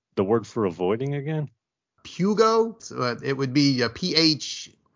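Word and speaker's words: φεύγω: Pugo. So it would be a P-H. If we transliterate it, it's P-H-E-U-G-O. Fugo or okay. Pugo, or actually fevgo, I think, is the modern Greek pronunciation of it.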